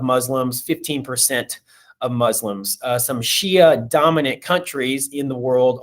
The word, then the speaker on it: Shia: Shia, or sometimes pronounced Shiite, and you got to be real careful with that one.